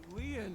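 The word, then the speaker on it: Lien: My name, Leon, is spelled L-I-E-N.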